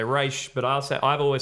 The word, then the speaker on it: Ra's: And Neil Adams co-created in the 70s, or Raish, or however you want to pronounce it. I didn't know that. Let's go Raz, because Nolan said Raz. Yeah. Animated series said Raish. Ra's al Ghul. I've heard Neil Adams say Raz.